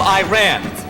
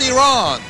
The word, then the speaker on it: Iran: over she is from Iran excuse me Pastor it's actually pronounced Iran you ready 6 S8